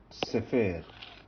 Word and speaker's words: sefer: Or the next one, sefer. Again, this is a bisyllable word.